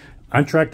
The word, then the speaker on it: Entracte: which is actually a dealership for George Taylor untracked audio is how you pronounce it welcome to untracked audio that's how